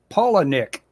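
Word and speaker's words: Palahniuk: a book recommendation um chuck paula nick that's i know that that's how it's pronounced because someone made a point of spelling it phonetically oh that's ooh that's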